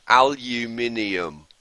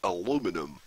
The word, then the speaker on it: aluminium: borite is aluminium yes that's how we pronounce it in the UK aluminium not aluminum okay what's this thing